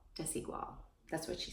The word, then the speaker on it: Desigual: associate there, and I said, could you please pronounce this for me? And she said, Desigual. Desigual.